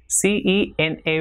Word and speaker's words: cena: word like same is the sound produced by C when it comes before the vowel E and I, that is say or see. So for example, CENA will be cena, and CEBOLLA will be pronounced as cebolla. Same way, CERRAR will be pronounced as cerrar, and with I it